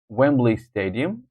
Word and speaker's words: Wembley Stadium: And then number 9 is Wembley Stadium. Wembley Stadium, first syllables.